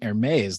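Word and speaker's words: Hermès: So I mean, if you use the French pronunciation Hermes, then you're talking designer handbags and scarves.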